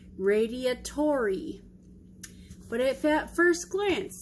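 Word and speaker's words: radiatori: enhancement if you will so we are making radiator pasta yes I know it's pronounced Radia Tori but at that first glance especially backwards it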